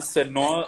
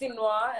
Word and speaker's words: Si'Noir: Jeez, a lot of people, when they pronounce it the first time, just it's everywhere, it's jumbled. It's Sinoa, and that basically is just like the two letters of my name, which is SI, apostrophe noir, which is black in French.